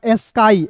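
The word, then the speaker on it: sky: फिर देखिए यहाँ पे SK को दोस्तों पढ़ते हैं स्का, अंतिम में वाई है तो इसका उच्चारण आई के रूप में करते हैं, क्या हो जाएगा, स्काई।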